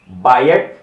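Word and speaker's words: Biot: हमारे पास है बायट, ठीक है, टी साइलेंट होता है, सावर्ट लॉ।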